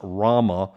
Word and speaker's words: Rama: by the way is supposed to be pronounced rama r-a-m-a yeah um uh is